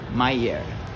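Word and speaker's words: Myer: Meyer. Pra mim não pronunciar errado, é bom perguntar, né?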